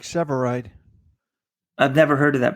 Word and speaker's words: Sevareid: would just be funnier Eric's ever revived Eric Sevareid Robert it's Eric Sevareid I've never heard of